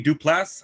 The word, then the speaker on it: Duplass: uh pedro pascal jay duplass i think that's the way you pronounce his last name duplass that's mark